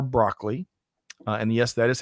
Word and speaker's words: Broccoli: James Bond the only Bond so Albert R broccoli and yes that is how he pronounced his last name who was nicknamed cubby